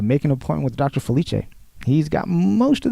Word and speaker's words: Felice: come up that's and my last name is pronounced Felicia is spelled f as in Frank Yale I